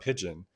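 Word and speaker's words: Pidgeon: And then Eric is the one that suggested the spelling of it as opposed to Pigeon like the bird, it's Pigeon like the language.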